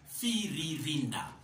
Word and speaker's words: Firirinda: No, it is not Firirinda. It is not Firirinda. It is not Firirinda. It is Firirinda. Firirinda. Firirinda. The second Rai, the second R-I is pronounced as Rai. There is a jack into it. That is what brings the musical aspect into the word.